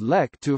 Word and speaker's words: Lek-to: Giles romanization, and as Lek Tu from its Hokkien pronunciation.